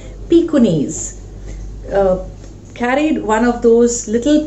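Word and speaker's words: Pekingese: Now that is the name of that's a breed of a dog which is pronounced as pikunis.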